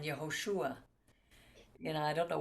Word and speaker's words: Yehoshua: Especially when they translate it, like there are no J's in Hebrew. There's no Joshua. It's Hosea and Yehoshua.